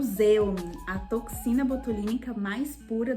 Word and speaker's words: Xeomin: Eu sei que muita gente tem dúvidas se é Xeomin, se é Zeumin, enfim. E por ser da Merz, que é uma marca alemã, a pronúncia correta é Zeumin, tá bom?